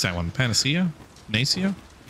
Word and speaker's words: Panacea: what' I get n pan how do you pronounce that one Panacea Pia o thank you all right what the